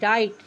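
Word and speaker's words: write: रिस्ट means कलाई डब्ल्यू आर आई टी ई राइट राइट means लिखना डब्ल्यू आर ए पी रैप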